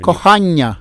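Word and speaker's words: кохання: Kohanya.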